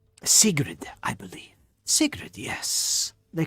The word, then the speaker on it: Sigrid: warrior from the north they say her name sigrid i believe sacred yes they call her sigrid s-i-g-r-i-d the little fellow the little goblin curious